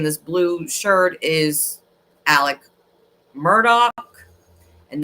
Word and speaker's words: Murdaugh: is Alec Murdock and that's how you pronounce it I don't know why uh it's just that's how they say it Alec um instead of Alex and then it's not murder it's Murdoch so Alec Murdock killed his